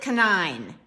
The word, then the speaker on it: Khanine: name is Khanine, and I think you pronounce it Khanine. Canine, like the dog.